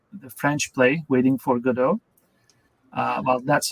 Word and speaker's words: Godot: But I think when people see the first time, they tend to go with the dot as the sort of more English pronunciation, like Godot.